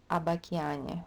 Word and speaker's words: об океане: And in that one word, the stress will be on a. So this will be a, this will be a, all as. Об океане. You pronounce them as if they were as.